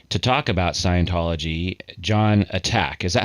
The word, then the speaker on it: Atack: talk about Scientology, Jon Atack. Is that how I pronounce it, John? I'm a bit more peaceful than that. I say ATAC. ATAC. So more like a tack, like a thumbtack kind of a thing.